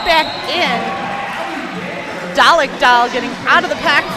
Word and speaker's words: Dalek Doll: And I believe it's pronounced Dalek Doll. You're right.